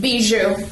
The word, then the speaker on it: Bijoux: Bijoux.